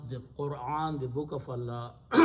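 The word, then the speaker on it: قرآن: now some people pronounce Quran okay some people pronounce Quran some people pronounce Quran all of them are wrong okay all of them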